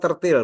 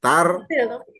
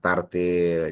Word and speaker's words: tartil: bu ya tartil atau tertil Bu eah tartil tartil Bu ya Iya tartil jangan tertil lagi ya Jadi kalau bisa kita